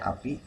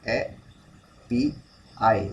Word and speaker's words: API: ya api yang ini api kita bacanya api kalau dalam bahasa Inggrisnya disebut e pi i gitu ya Nah jadi